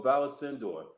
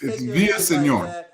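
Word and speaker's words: Villaseñor: your name correctly uh that's kind of close mr haney it's via senor that means no tell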